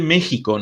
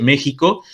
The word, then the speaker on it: México: es la cuestión de méxico no porque en méxico se escribe con x y xi pro viví porque lo pronunciamos como jota que también es una cuestión